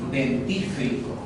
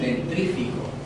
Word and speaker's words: dentífrico: Y la raíz de diente es denti, no dentri, sino es denti. Entonces, la forma correcta, ¿cuál sería? Dentífrico. Esa es la forma correcta. Pero las personas dicen dentrífico. Eso no existe.